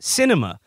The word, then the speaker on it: Sinema: um says here the arizona senator's name is pronounced cinema and it is apt